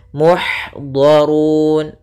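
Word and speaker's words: مُحْضَرُونَ: Kemudian muhdharun. Di sini ada ha salah satu sifatnya sama seperti ta, yaitu hamas, mengalirnya nafas kita. Ih, nah, maka alirkan dengan sempurna. Ih, maka muhdharun, donya tebal, durun tebal juga.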